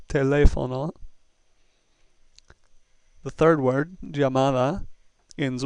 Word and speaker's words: teléfono: The next one's very easy because it has a written accent mark. Therefore, the stress must be on that syllable. Teléfono.